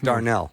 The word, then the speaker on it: Darnel: Honestly, it's Darnell.